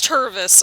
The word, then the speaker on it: Tervis: bottle jesus take the wheel yeah it is tervus okay i wasn't mispronouncing anything then a local tour business but